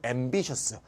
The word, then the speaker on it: ambitious: TOUS는 발음이 터스가 되고요. TIOUS 있죠? ambitious. 이거는 셔스가 됩니다. 그래서 셔스, 터스 잘 구별하세요.